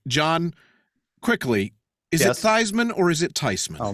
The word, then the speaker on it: Theismann: in 8th grade, and we grew up as the name Theismann. Good German name, but there was this really good football player who pronounced it Theismann. And actually, he didn't either. He kind of got stuck with it because that's the way people thought it was pronounced.